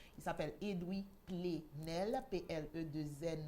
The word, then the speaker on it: Edwy: plein droit la presse et doubler rennes ça s'écrit ed w lee edwin coq edwin chez nous mais sans le n il s'appelle edwy plenel paix est le 2è ne l messieurs